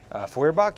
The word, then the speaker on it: Feuerbach: And then up front, we have a proxied crit Kokram with a, how do you pronounce it? Furbach? Feuerbach, yeah.